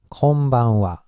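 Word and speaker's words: こんばんは: good evening is it's konban WA konbanwa yeah be careful this one is again wha it's not hot okay this means goodbye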